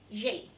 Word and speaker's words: j'ai: Tapi karena dia ketemu dengan huruf vokal, jadi e-nya dihilangkan diganti dengan apostrof. Jadi bacanya j'ai.